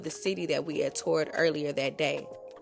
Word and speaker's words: Thor: This is Thor, pronounced tour, in Denmark.